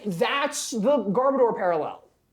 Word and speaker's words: Garbodor: It's actually pronounced a Garbodor. Garbodor.